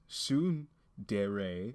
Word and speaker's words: tsundere: Tsundere, pronounced tsundere, is a Japanese term for a character developmental